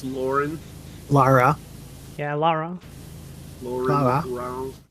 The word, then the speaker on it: Lara: There's no U in her name. It's Lara. Yeah, it's Lara Croft. It's not Laura. It's Lauren. Lara.